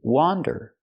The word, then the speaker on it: wander: around the mall pronunciation wander with the open a sound like hot and stop w w wander this